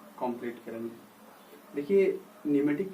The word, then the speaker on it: pneuma: देखिए, न्यूमेटिक की जहाँ तक बात आती है, न्यूमेटिक एक ग्रीक वर्ड न्यूमे से आया है, न्यूमा, ठीक है, PNEUMA, न्यूमा। ये मत पूछिएगा इसमें पी मतलब साइलेंट क्यों है, ये आप ग्रामर में कंप्लीट करिएगा।